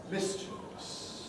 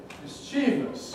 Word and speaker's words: mischievous: i was at school this is stressed on the miss there's an awful lot of people say mischievous stressing the second syllable that's the payload blue thing there mischievous is it no it